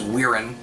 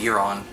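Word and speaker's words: Guiron: Sometimes known as Weirin, but I believe it's pronounced Giron.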